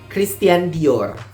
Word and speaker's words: Christian Dior: kita membacanya ini adalah Christian Dior ya kan jadi di bagian tiannya itu ada seperti y-nya juga seperti biasa R yang di belakang Dior R yaitu dikubur I dan o nya di situ jadi seperti